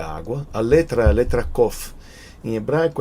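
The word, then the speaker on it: קוף: a letra a letra Coffee em hebraico você usa popularmente a gente fala a letra cufo entendeu mas na verdade Originalmente a pronúncia certa é Coffee que a gente já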